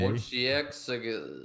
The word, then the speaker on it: Wojciech: Wojciech. Oh, Wojciech.